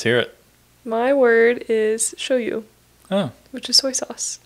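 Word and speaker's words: shōyu: was yeah see yeah show you show you is how you say soy sauce yeah so of course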